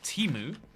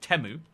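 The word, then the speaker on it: Temu: Uh it used to be called Teimu. Now they've started calling it Teu. Um and uh it's it's up to you what you call it.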